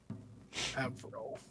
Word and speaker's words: Auril: Auriel, Auril. Avril.